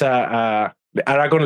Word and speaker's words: Aragon: We almost beat Madrid in the, Aragon, which is Aragon, like Aragorn, not the same that Aragon.